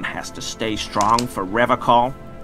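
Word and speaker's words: Revachol: He pronounces Revacall with a hard K, unlike other people.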